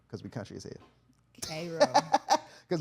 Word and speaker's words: Cairo: And it's spelled like Cairo Egypt. C A I R O but we call it Cro because we country is head. Kro because we cut you is a V man.